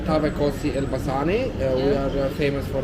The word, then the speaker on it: Tavë kosi: Tavë kosi elbasani.